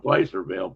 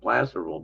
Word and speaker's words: Placerville: Probably knew better on Placerville Plasterville, but I still said it wrong.